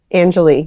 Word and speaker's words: Anjilee: And by the way, your name is pronounced Anjilee? Anjilee, yes.